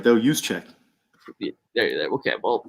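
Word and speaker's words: Juszczyk: that's pretty dang hard not gonna i can pronounce it right though use check there you go okay well you know that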